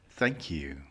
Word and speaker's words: thank you: but try to practice thank you, thank you.